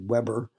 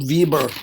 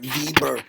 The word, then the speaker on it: Weber: It goes back to Alfred Alfred Vieber, I think, is going to get really German about it. Vieber because that W always pronounced with a V.